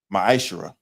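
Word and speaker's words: מעשר: Means 10th in Hebrew and is pronounced maisher.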